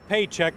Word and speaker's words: Pietrzyk: Jim yeah Dave this guy's name is Jeff paycheck that's how it's pronounced within the Union he's charged with money